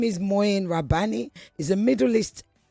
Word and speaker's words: Mouin: His name is Moen Rabani. He's a Middle East analyst and the co-editor of Jadalia. Moyen, am I pronouncing your name right?